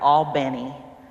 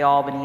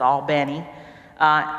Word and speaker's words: Albany: are you know in I won't say it right all bene because I say Albany but it's all bene it doesn't matter where